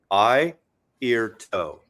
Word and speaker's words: Airto: This is a eye, ear, hey, toe. okay, Mazzy. That's how he used to describe it to pronounce his name on stage. Eye, ear, toe.